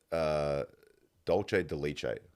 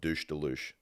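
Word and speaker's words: dulce de leche: I said, full confidence to the lady behind the counter, can I have 2 scoops of douche de luche?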